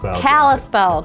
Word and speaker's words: Kallispell: Kallispell Triclimate jacket.